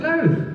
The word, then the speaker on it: Louth: You're from, I don't want to pronounce it incorrectly. Is it Louth? How do I say it? Yeah, it's Louth.